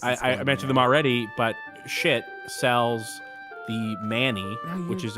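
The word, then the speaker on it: Schiit: They do have a halfway decent joke about how it's actually a German word and it's pronounced shitta, and then they're like, no, that's not true. It's just pronounced shit.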